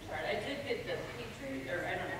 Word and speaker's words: Petrie: I did get the Petrie, or I don't know how to pronounce it. Petrie, yep.